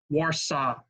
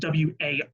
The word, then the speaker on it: Warsaw: Now, I just want to point out my pronunciation is correct on that. You guys know that sometimes I tend to mispronunciate things, but the spelling is the spelling of I believe, the Polish enunciation of the word.